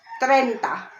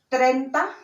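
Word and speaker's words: treinta: 30 30 would be trenta and then of course trend how you read in in spanish is trenta and then this one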